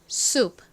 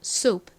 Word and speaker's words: soup: S는 좀 세게 거의 쌍시옷에 가깝게 발음이 나고 OU는 우, 끝에 P는 약하게 프 소리가 나는데 너무 작게 이렇게 약하게 소리가 나다 보니까 거의 받침처럼 들립니다. 그래서 soup 이렇게 소리가 납니다.